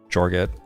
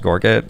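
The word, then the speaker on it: Gorget: And it seems extra good with Araalchum and Jorgget. That's pronounced Gorgget actually, but I pronounced it wrong.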